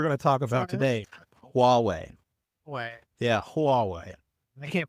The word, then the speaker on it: Huawei: And Yahweh used it as well. Should I you pronounce that? You say Yahweh? What deity we're going to talk about today? Huawei.